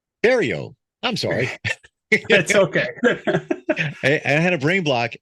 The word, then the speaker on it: Berriault: brain block and and your last name is spelled way different than it sounds yes the GE the French Canadian names exactly bar Rio right bario got it yes all right Jeremy